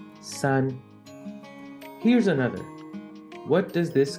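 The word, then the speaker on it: 山: shape of a mountain in chinese-based pronunciation it's actually red as Sun here's another what does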